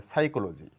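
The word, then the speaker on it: psychology: লেটারের কোন উচ্চারণ নেই যেমন এটাকে পি সাইকোলজি বলতে পারি না এখানে পি এর কোন সাউন্ড নেই তাহলে সাইকোলজি অর্থাৎ পিছাই চলো যাই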